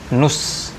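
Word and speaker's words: نصف: Kadang orang Arab bilangnya enteng aja, nus, ya, dari kata nisf, tapi diucapkan nus. Nus, jadi seolah-olah hanya nun dan sod saja, nus.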